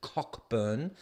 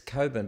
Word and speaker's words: Cockburn: gonna hit buy um the Aussie 1970 says Coburn I know you pronounce it cockburn but it's Coburn but it is funny and while he just